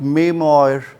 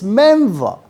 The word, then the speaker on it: memoir: be pronouncing it like memoir or memoir or memoir actually the Real pronunciation behind me e m o i r is meva.